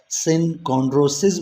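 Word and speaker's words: synchondrosis: और जो दूसरी टाइप है इसमें वो सिनकॉन्ड्रोसीज, और यहाँ पे भी सिंगुलर इस्तेमाल करोगे तो ई की जगह आई आ जाएगा और फिर इसको आप सिनकॉन्ड्रोसिस बोलोगे, और प्लूरल में सिनकॉन्ड्रोसीज प्रोनाउंस करोगे।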